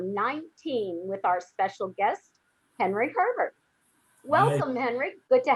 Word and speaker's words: Henri: whether to say henry or henry it's definitely henry okay you don't use the french pronunciation i not really i mean when i'm